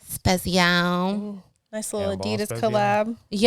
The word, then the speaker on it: Spezial: Spezial. Spezial.